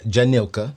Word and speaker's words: Jhanika: I have Anthony and Jhanika.